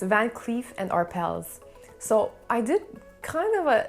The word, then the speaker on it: Arpels: and not van cleef but the arpels we had some employees pronouncing the s so they would say arpels we had others not pronouncing the s so arpel if we go with the the trend in the french language i guess the s should be silent so honestly and personally